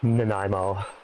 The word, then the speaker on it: Nanaimo: X's and S's, and so it sounds like Nanaimo.